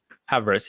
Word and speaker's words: Avarice: How do you pronounce it? Avarice, yeah, that's correct.